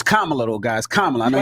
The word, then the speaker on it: Kamala: used to this built having her name U mispronounced it's Kamala though guys kala I know you guysa Kamala